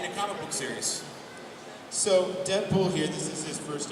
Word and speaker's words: Deadpool: And here's a clip of Deadpool and Ultimate Spider-Man. A Kung Fu Fiesta! Arriba-san! Double wedgie achievement unlocked. Dang, Skippy! Where are my manners? Introductions! Call me Deadpool. It rhymes with no school.